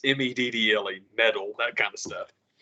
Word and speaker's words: Meddle: It's very with the Pink Floyd had the album called Metal, like metal, Mhm. like Merkerbat. It's I always say it like Metal, but it's Meddle, metal, that kind of stuff.